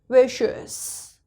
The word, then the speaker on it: vicious: Okay, next word IOUS, before IOUS again C, which is our special letter. So it's vicious.